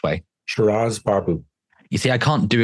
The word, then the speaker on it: Shiraz Baboo: Shiraz Baboo.